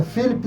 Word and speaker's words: Philipp: A pronúncia é certa? Felipe.